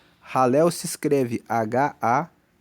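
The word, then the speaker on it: Hallel: Depois, você encontra uma outra coleção, do Salmo 113 até o Salmo 118, nós temos os chamados Salmos de Halel. Halel se escreve H-A-L-L-E-L e Halel significa louvor ao Senhor.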